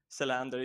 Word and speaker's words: Selander: It's Salander. Tell me I'm saying that correct. Yeah, Andre Selander. You can pronounce it a little bit more American.